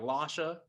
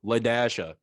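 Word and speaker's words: La-Dasha: And where her teacher was like Lasha, as you think it is, L-A-S-H-A. And she was like, no, Ladasha. You got to pronounce the dash.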